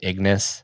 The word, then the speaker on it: Ignace: Before you do, just consider instead Ignace Carcassy. Ignace? Maybe. Ignace Carcassy. The thing that throws me off is that they always pronounce it, they, being GW, always pronounces his name Ignis.